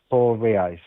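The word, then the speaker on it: reais: Rii. Okay. So it's pronounced rii.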